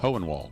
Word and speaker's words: Hohenwald: the blast well there's one close by in Hohenwald so oh is that that's how it's pronounced yeah Hohenwald okay yeah and uh yeah this whole world